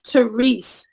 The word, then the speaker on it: Therese: with you and it's theres the E is silent at the end but the way they